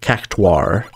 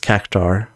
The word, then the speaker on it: Cactuar: It's spelled UA rather than AU. And I think I noticed it because I was watching something where there was in-game VO and they pronounced it with a very distinct difference. You know, they said Cactuar rather than just Cactar.